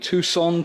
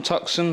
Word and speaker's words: Tucson: of other bits we've now got a hyai Tucson tuxen however you want to pronounce it think it's pronounced Tucson uh we